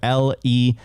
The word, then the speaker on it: Ledn: And I would always say Ledn, but I always said in the future, Ledn will be the correct way of writing lend. So lend, like lend, it's working.